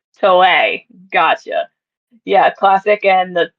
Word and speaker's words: Toei: I think it's Toei. Toei.